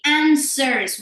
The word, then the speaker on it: answers: Answers. We don't pronounce the W.